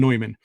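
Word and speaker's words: Neumann: neyman Oh I thought you said Newman my mistake because there's there's uh yeah I'm sorry I did say I did say no but I meant John noyman uh is the it's the German pronunciation there uh but yeah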